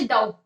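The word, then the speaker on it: doubt: ठीक है, जैसे जैसे यहाँ पर अगर मैं उदाहरण दूं इंग्लिश का, जैसे डाउट, डाउट में क्या होता है, टी साइलेंट हो जाता है।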